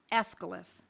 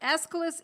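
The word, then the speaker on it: Aesculus: Another medicine, escalis. It's spelled a Essis.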